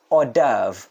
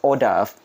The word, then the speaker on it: hors d'oeuvre: is it 3 2 1 go hors d'oeuvre คำนี้ออกเสียงว่า hors d'oeuvre สะกดยากมากนึกไม่ออกจำไม่ได้เหมือนกันสะกดว่าอย่างไร but this is how it is pronounced hors d'oeuvre yeah okay when you want to know the